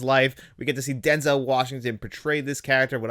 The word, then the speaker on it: Denzel: out this week, his name is actually not Denzel, it's actually Denzel. We've been pronouncing it wrong, and he told a little